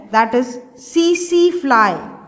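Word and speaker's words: tsetse: And vector, इस protozoan को carry करने वाला जो वेक्टर है, दैट इज सीसी फ्लाई. कुछ लोग उसको टिसी टिसी फ्लाई भी बोलते हैं. टी is silent, CC फ्लाई.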